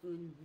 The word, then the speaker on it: un: The smiling face and the nasal sound together.